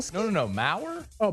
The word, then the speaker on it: Maher: Spell it. Uh, B I mean Bill. M A H E R.